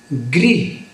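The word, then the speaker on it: ਗ੍ਰਿਹਿ: पंक्ति विच शब्द है ग्री गन सिहारी है पैर विच रारा लगा होया ग वाली सिहारी पैर रारा ना बोल के गगा मुक्ता हो जाएगा ते उच्चारण बनेगा ग्र इस मतलब है कार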